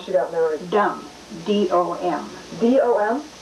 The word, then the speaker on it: Dom: D-O-M? Pronounced Dom?